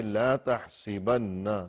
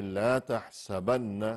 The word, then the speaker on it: لا تحسبن: اللہ علیہ وسلم نے اس لفظ کا تلفظ یوں فرمائے کہ لا تحسبن، سین کے نیچے زیر کے ساتھ، اور یوں نہیں فرمائے کہ لا تحسبن، سین کے اوپر زبر کے ساتھ، یوں نہیں فرمایا۔ تو